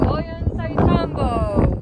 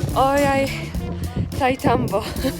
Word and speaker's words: Ollantaytambo: Welcome to Ollantaytambo. I think I said it right. Ollantaytambo.